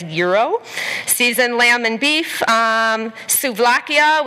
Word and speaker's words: gyro: the lamb shank platter the gyro pronounced as gyro seasoned lamb and beef